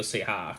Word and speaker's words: Ceja: I almost want to say it's Julio Ceja, because I know the J's in Spanish are pronounced like H's.